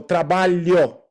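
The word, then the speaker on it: trabalho: o so we go the tongue touches the middle of the top of your mouth and it slides towards your front teeth Yo yeah perfect so trabalio a value very nice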